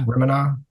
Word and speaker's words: Remini: it's I don't know how to pronounce her last name. Leah Remini, I, Remini.